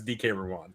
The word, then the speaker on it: DK Ruan: But I know for a fact it's DK Ruan.